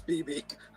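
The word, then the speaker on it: Bebe: first one BB newworth is it BB newor it's BB that's how you pronounce it she was the restaurant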